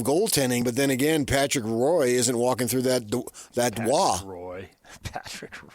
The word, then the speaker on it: Roy: It's spelled R-O-Y. That looks like Roy to me. What do I know?